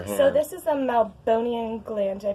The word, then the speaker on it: meibomian: So this is a meibomian gland. Did I pronounce that right? Yeah, meibomian.